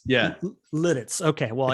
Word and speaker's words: Lititz: It's spelled Lititz. How do you say it? Lititz? Lititz. Yeah. Lititz.